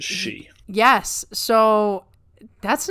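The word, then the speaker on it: 四: it is uh yes because it sounds like the word for death which is she yes so that's not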